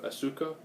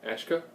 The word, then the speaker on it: Asuka: So it'll be, from a Gaijin standpoint, I guess we call it Asuka. But I guess it's pronounced Ashka.